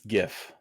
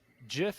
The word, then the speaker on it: GIF: created it pronounces it Jif is peanut butter yeah GIF is how you pronounce it it is a gift not a gif um my name is